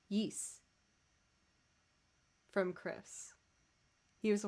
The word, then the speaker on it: Ys: ys songs or no i learned it's pronounced yeast from chris he was